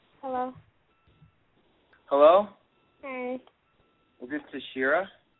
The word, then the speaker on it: Tashaira: Is this Tashaira? It's Tashaira. Tashaira, I was wondering if I pronounced that right.